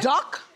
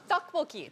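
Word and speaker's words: 떡볶이: Duck? No, tteokbokki.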